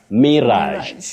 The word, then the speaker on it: mirage: Mirage. Not mirage, not mirage. You say mirage. Mirage. You can also say mirage with the stress on the second syllable.